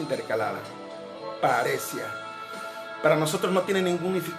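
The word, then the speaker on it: παρρησία: habla de este término que en griego se pronuncia paresia, con H intercalada, paresia.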